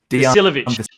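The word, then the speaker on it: Vasiljević: Veselevich. How do you say it, Josh? Veselevich.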